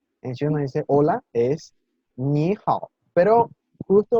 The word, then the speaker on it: 你好: pinyin que dice que cuando hay dos palabras de tercer tono seguidas, la primera sílaba cambia al segundo tono. Eso quiere decir que la primera sílaba va a pronunciarse ligeramente más aguda, más alta que la segunda.